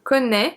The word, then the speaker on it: connaît: Je connais, tu connais, il, elle, on connaît. So it doesn't change the pronunciation, the little hat.